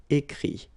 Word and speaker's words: écrit: IRE here, IT, but then phonetically it's I as well because you don't pronounce the final T, okay? Écrire, écrit.